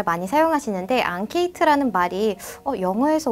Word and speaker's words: enquête: 우리 앙케이트 조사 이런 말 많이 사용하시는데 앙케이트라는 말이 영어에서 온 말인가? 어느 나라 말이지? 라고 생각하셨을 거예요. 자, 이 앙케이트라는 말은 프랑스어에서 온 단어입니다.